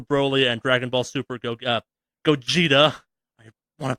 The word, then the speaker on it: Gogeta: Dragon Ball Super Broly and Dragon Ball Super Gogeta. I want to pronounce it I pronounce it Gogeta for a fucking decade.